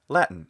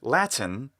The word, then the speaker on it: Latin: and in that pronunciation normally the word is simply pronounced latin just as we say mitten or kitten another wonderful things that said when we want to have extra clarity we can say latin and that's fine it